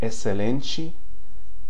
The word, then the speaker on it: excelente: Excelente, excitação. Okay? So it's a little bit hard to predict that one. XC before E or I has an S sound. Excelente, excitação.